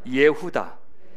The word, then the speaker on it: 예후다: 넷째 아들의 이름은 우리가 잘 아는 유다인데 진짜 발음하면 예후다입니다. 우리 한번 발음 한번 해보시겠습니까? 시작. 예후다. 예후다. 네, 보통 유다라고 발음하는데 유다 지파는 중요하니까 예후다가 원래 히브리어 발음입니다.